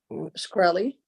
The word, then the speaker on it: Shkreli: And for the record, I keep saying your name wrong. Shkreli. Okay, Shkreli. I keep wanting to separate that.